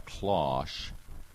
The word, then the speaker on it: Kloss: And Billie Jean's girlfriend, who has since become her partner, we're talking 30 years ago now, and her name is Alana Klosh. It's spelled Kloss.